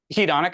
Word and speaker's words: hedonic: How do you pronounce that word? Hedonic? Hedonic, Hedonic, that's the one.